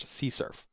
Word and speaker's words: CSRF: site request forgery It's often abbreviated as csrf and sometimes pronounced csurf What is csrf imagine